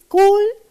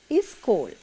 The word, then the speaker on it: school: Now children, we Sri Lankans sometimes can't pronounce this S sound at the beginning properly. You know, now some children and even the adults, they can't pronounce this school properly. They tend to say is school. That is a mistake, children.